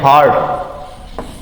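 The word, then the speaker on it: heart: हार्ट में देखिए ई का उच्चारण एकमात्र शब्द है जिसमें क्या निकल रहा है? ई का उच्चारण आ निकलता है, इसको बोलेंगे हार्ट।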